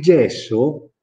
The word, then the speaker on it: gess: Il gesso si dice gess in milanese, perché, anche se la E non ha l'accento, perché è seguita da due S.